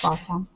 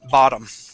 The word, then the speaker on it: bottom: Okay, that's the correct pronunciation, bottom, but Bottom. we pronounce it bottom. Bottom. Okay. Yeah, with a D sound, bottom.